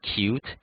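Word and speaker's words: Qt: which is written as cutie but the usually pronounced as cute GT k WX Windows and Microsoft MFC however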